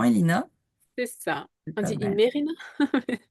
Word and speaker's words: Imerina: Le Palais d'Imerina, je sais pas si je le prononce correctement Elina. C'est ça. On dit Imerina. Imerina, Imerina.